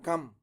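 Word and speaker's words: 감: la vocal a más la consonante mion daría gam. Gam es una palabra de una sola sílaba, o sea, como palabra es una palabra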